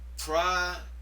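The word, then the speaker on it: προσηυχόμην: Let me pronounce it slowly. Prasyuchamein. One more time. Prasyuchamein.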